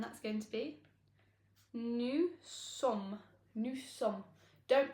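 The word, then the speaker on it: nous: is new and that's going to be new new don't pronounce the e s it's silent so new new next up we have the formal and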